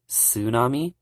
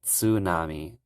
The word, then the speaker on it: tsunami: Americans pronounce tsunami as tsunami uh they like make the T silent for some reason but in Japanese they actually pronounce the TS so they would say Tsunami Tsunami Tsunami and it's